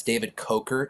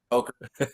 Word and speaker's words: Kocher: And it's just to correct the pronunciation, because Yes, I was please do. listening the last few minutes. It's David Coker. It happens all the time. Okay. Coker, Cola.